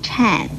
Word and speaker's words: 忏: 这个颤字的国语注音是吃暗颤，四声颤。